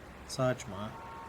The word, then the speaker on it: Saejima: It's Saejima. That's how you say it.